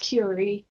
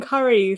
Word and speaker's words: Cury: Yeah, it's spelled like curry with one R, but it is pronounced Curie. I've been saying curry for like years.